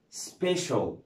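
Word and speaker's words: special: عندنا بعد كده سي اي اي ال، سي اي اي ال بتتنطقهم شول او شيل، شول او ايه او شيل، زي كلمه سبيشال، سبيشال، او كلمه سوشيال، يا اما سبيشال او سوشيال.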